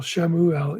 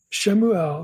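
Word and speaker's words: שמואל: with this is is shamuel shoel shamuel either either pronunciation Samuel's name does not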